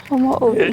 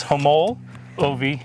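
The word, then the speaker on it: Homolovi: pronunciation on it hom homo oi it's like two different words homo oi homo oi is how they told us to say pronounce it so we were wrong it's homo oie State Park and we're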